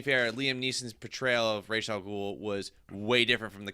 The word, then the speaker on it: Ra's al Ghul: pronounced Ra's al Ghul. When people say Ra's al Ghul, I know, you corrected Snyder the other day.